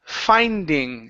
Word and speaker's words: finding: And your last word is the word finding. Instead of um finding fee, it's fi. Finding.